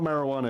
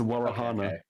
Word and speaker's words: warohana: it's not it's not it's not marijuana it's warohana oh warahana how do you spell that w-a-r-a-h-a-n-a hang on hang on wait you're